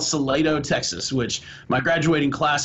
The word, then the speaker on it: Salado: I'm from a little town called Salado, Texas, which my graduating class in high school is 57 kids. Spell it.